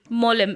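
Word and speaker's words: Mollem: know mole for example have you heard of the mole molem m-o-l-l-e-m in goethe ah yes yes yes yes yeah it's pronounced as mole right in the so um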